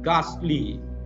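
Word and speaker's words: ghastly: अगला शब्द देखिए, विकराल, विकराल को कहा जाता है गास्टली, गास्टली, इसमें भी एच साइलेंट है, गास्टली, तो विकराल, गास्टली, गास्टली यानी विकराल।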